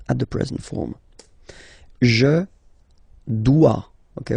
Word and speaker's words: dois: Je dois. Okay, remember, final S is not pronounced. Je dois. OE, when you combine the two, you get the sound wa wa wa.